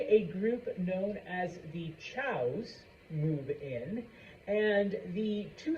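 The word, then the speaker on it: Zhou: I know it starts with a Z, but it's pronounced Chow. Okay. Eventually, a group known as the Chows move in, and the two societies live side by side, the two families.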